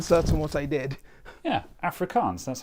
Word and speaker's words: Afrikaans: Yeah, Afrikaans, that's how you say that.